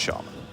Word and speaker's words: Shaman: It's pronounced Shaman.